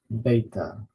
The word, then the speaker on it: beta: Alpha we put the stress in the first syllable Alpha the next letter is beta again this dress is the first syllable beta